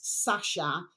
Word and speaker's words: Sacha: Now then, my delicious babies, so we have here right, capital T, the space, capital official space, capital S, Sasha, which is spelled Sacha, space, capital S, stone, then capital C, channel, Mad Little Babies.